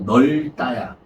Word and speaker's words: 넓다: 어 어떤 리을 비율 발음은 리을로 하는게 좋아요. 리을로 하는게 원칙이야. 네. 그래서 널다야. 없다가 아니고 넓다.